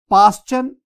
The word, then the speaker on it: Paschen: पास्चन, PASCHEN, पास्चन series.